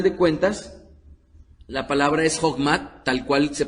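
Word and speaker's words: חכמה: sabiduría en el hebreo es el sustantivo femenino Jokma. Repitan conmigo Jokma. J-O-J-M-A. y aunque algunas veces en la transliteración de habla inglesa le ponen K, a final de cuentas, la palabra es Jogma, tal cual se pronuncia, se escucha fonéticamente ahorita al español.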